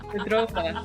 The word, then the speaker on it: Córdoba: And I'm going to have to go back to Cordoba and learn how to say it properly. Cordoba. I have to roll my R's more.